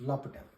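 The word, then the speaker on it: L'Hôpital: Francis D lutel okay that's how they uh pronounce this in French is LEL rule so let's go ahead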